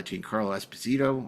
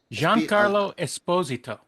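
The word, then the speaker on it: Giancarlo Esposito: Uh Jane Carlo Espazito or Darren, how do you say it? You know, Jean Carlo Esposito. Yeah, thank you.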